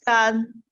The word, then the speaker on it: 干: This gan is different gan when we talking about 甘草. Even the pronunciation exactly the same.